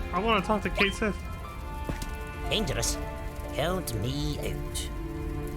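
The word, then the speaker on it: Cait Sith: Oh, I want to talk to Kate Sith. Dangerous. Count me out. Ketchi. That's a cute pronunciation too.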